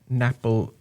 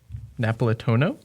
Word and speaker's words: Napolitano: Gerrits, lettering done by Nick J. Napolitone, or no, Napolitano? Yeah. Napolitano. That's how I pronounce it.